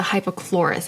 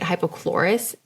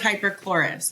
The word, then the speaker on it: hypochlorous: use the Tower 28 hypochlorous acid spray. That's the one that's just a little refresh and it kills all the bacteria on your face. Okay, yeah. So it's hyperchlorous. I'm saying it wrong.